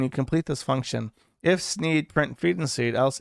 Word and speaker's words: Sneed: lies the shop called Sneed's Feed and Seed, where feed and seed both end in the sound "eed," thus rhyming with the name of the owner, Sneed.